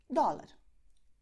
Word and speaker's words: dólar: In Portuguese, it will be pronounced very similarly. You would say dollar, dollar, okay?